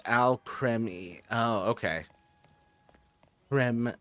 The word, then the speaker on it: Alcremie: They'd never give a single Al Creamy. It's pronounced Al Creme.